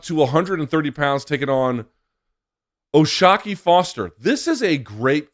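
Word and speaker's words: O'Shaquie: is oshaki Foster as I mentioned looks like oh shaky it's pronounced oshaki Foster is a very quiet guy very very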